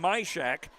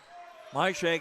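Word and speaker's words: Majkrzak: Three kills for Vivian Myshak. That's spelled M-A-J-K-R-Z-A-K.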